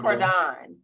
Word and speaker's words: Cordon: It's like Cordon, like Cordon. Cordon. Uh-huh. Cordon, like I'm cooking some food or something.